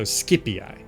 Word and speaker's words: Scipii: Hard C in the classical pronunciation, so Scipii.